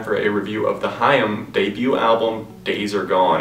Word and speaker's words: HAIM: how to pronounce things not H like I originally thought or even time anyways getting back to